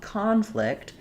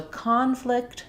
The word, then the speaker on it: conflict: verb and know that the pattern is typically for the noun we have first syllable stress and for the verb we have second syllable stress.